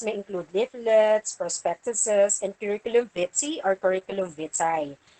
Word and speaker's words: curriculum vitae: include leaflets prospectuses and curriculum bitsy or curriculum vitae you don't pronounce it as curriculum vitae it's curriculum bitsy or curriculum which I